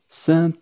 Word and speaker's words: cent: في حالة وجود كلمة متبوعة برقم تبدأ بحرف ساكن. على سبيل المثال، نقول "cent garçons". "Cent garçons". قلنا ذلك في الرقم 100. نحن لا ننطق حرف "ت".